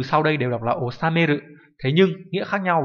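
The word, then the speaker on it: 収める: Thông tin bổ sung đó là cả bốn từ sau đây đều đọc là osameru, thế nhưng nghĩa khác nhau. Ví dụ chúng ta có chữ thu đọc là osameru mang nghĩa là thu được, ngược lại hoàn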